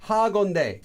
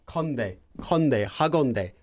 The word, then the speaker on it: 하건대: Well, it might help you with pronouncing the H, but 하건대. Well, let's just say this is extra air here. 건대, 하건대, 건대.